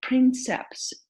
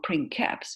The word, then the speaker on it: princeps: So princeps or princeps, both pronunciations are fine, means the first, right?